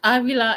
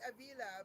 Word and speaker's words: Avila: Avila in English, Avila in Spanish. Okay, Whatever's easier for people to say. I always said Avila because Yep, that's cool. most of my friends are Hispanic, so Yep, I like that. pronounce it how they pronounce it.